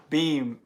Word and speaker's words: Beam: It's pronounced Beam. B-E-E-M? Beam.